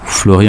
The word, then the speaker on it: Flori: Et donc, Flori en Corse, c'est Flori comme en roumain, ça vous le prononcez de la même manière? Flori.